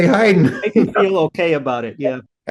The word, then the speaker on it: Haydn: a word I said oh no that's not Hayden it's Heiden I said I used to say Hayden yeah but you're gonna say Heiden feel okay about it